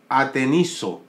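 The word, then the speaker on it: ἀτενίζω: de esta palabra fijamente es una palabra griega que se pronuncia aproximadamente así ateniso Qué significa tenso atento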